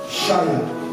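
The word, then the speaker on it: חיה: Le mot vivant vient du mot hébreu, shaya. Quelqu'un peut dire shaya? Pour ceux qui prennent les notes, ça s'écrit avec C-H-A-Y-A-H.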